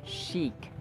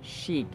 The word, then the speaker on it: chic: sh sh sh but this word is chic chic sh and then long e chic chic yada yada Joseph and